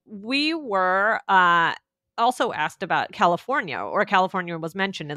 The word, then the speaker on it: California: But do you feel like it sounds more like an like California? The I. Does it sound more California. Like an when you say it, or an I? California. Do you say California or California? Okay. Because California. California. Okay. California. You know what? I think you could say either one.